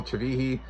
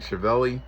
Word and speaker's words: Chivilli: game because Chivilli Chivihi, however you pronounce Angel Chivihi, that's how you really pronounce his name. I like saying Chivelli cuz it looks like that to me.